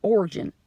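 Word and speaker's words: Origen: this but in origin his name is origin Ori g en and that's my southern pronunciation of his name he lived in 185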